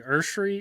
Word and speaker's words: Esuary: your name right uh it's actually earthry it's not but that's how you pronounce it okay all right well